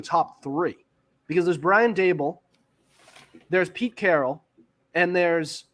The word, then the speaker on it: Daboll: It's pronounced Daboll.